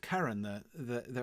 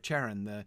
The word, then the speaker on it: Charon: out last time with Karen, Charon, and I've heard it pronounced both ways, by the way. People were asking me, and I've never been really definitive on that. It seems to be a matter of taste from what I hear,